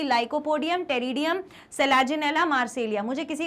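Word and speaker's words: Pteridium: या एग्जांपल क्या है होमोस्पोरस का, इंपॉर्टेंट है, lycopodium and टेरिडियम, P silent है, टेरिडियम।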